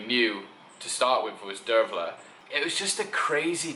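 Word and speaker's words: Dearbhail: so I knew this girl called Dervla which is an Irish name it's spelt de AR be h ail and she's a lovely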